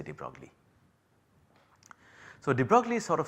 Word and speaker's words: de Broglie: Well, the correct pronunciation is apparently de Broglie, but then I am not good at pronouncing European names, I will just say de Broglie.